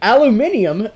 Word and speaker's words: aluminium: This is made out of aluminium, the proper way to say aluminum. If you are British, I'm doing you guys a favor. If you're not British, aluminum.